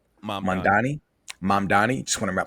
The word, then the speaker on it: Mamdani: Uh Mandani. Mandani. Just want to pronounce that.